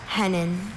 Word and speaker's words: hennin: Are there any alter pronunciations? I have just hennen.